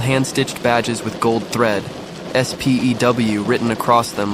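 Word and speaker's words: S.P.E.W.: In careful script were the words SPEW, the Society for the Promotion of Elfish Welfare. Ron burst out laughing. Spw it's pronounced S P E W.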